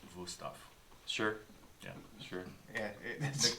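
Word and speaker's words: Wüsthof: That- Wustoff. So you're recommending them for the ease with which they cut your flesh? Cut anything. Oh, okay. Yeah, And it would actually be pronounced Wusthoff.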